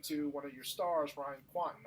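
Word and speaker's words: Ryan Kwanten: And all of a sudden, we were talking to one of your stars, Ryan Quanten. I think that's how you pronounce his name. Yeah, that's exactly right. Ryan Quanten.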